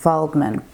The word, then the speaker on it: Waldman: Waldman, spelled with a W, but I think it's got like a V pronunciation, Waldman. So yeah, Dr.